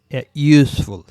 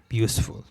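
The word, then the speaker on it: useful: ইউজফুল, Y double O, ইউজফুল। A unit, A hotel, Har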